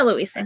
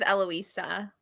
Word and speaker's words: Eloisa: name eloisa oh no I say Louisa she says eloisa helloisa Eloise no eloisa